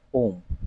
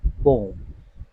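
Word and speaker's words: poem: pedagogy क्या है pedagogy इसका सही उच्चारण है कुछ लोग इसे पेडोलॉजी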